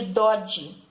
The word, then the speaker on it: Doge: E esses grandes comerciantes, eles formaram assembleias, e nessas assembleias eles elegiam o seu representante, que tinha o título de Doge, né? Com a pronúncia italiana, que significa comandante.